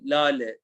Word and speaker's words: lale: So Elif, Hilal, and Lale, even though there is a H in here, it's not pronounced, it just makes you prolong the last character.